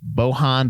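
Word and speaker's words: Bojan: of stuff cinematography by bohon Buzzelli I hope I think I don't think you pronounce the J there Pumpkinhead listen he's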